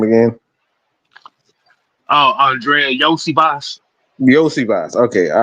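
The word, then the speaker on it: Iosivas: Oh, Andrea Yosi Boss. Yosi Boss. Okay. All right. Andrea Yoshi Boss.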